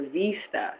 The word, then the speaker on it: VISTA: Do you pronounce it VISTA or VISTA? So it is pronounced VISTA.